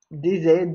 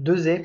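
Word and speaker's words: Desaix: Ensuite, Louis-Charles-Antoine, DZ, 2Z, personne prononce son nom de famille de la même façon. L'article Wikipédia, d'ailleurs, donne les deux, trois prononciations. Donc 2Z, plutôt, souvent en général.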